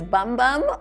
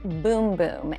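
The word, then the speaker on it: bum bum: We have the Brazilian boom boom creen I know it looks like it says bomba on the little jar here. But in Brazil, they pronounce it boom boom and trust us the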